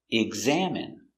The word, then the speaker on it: examine: he's examining the patient pronunciation EX salmon GG egg Z eggs eggs a EXA M exam exam it exam examine examine stress on the second syllable examine examine examine examine